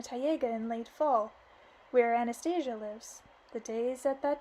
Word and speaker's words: Anastasia: Anastasia said waking me I'm gonna call her Anastasia because that's the actual pronunciation the Russian pronunciation of the English I felt her massaging